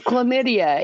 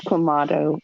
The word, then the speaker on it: Clamato: you say my name it's chlamydia it is not it's Clamato comado you know where that